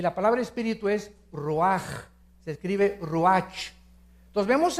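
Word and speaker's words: רוח: Nep se pronuncia nepj porque la ch en hebreo es nepeg y la palabra espíritu es roaj. Se escribe ruch.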